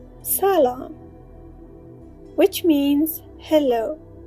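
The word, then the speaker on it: سلام: meet people we say salom which means hello it has two syllables s and the letters are s a l a m salom people who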